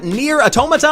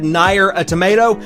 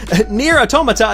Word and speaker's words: NieR: Automata: Next up, we've got NieR Automata, I believe is how you pronounce that. However, whenever I first glanced at the name, I thought it said NieR a tomato.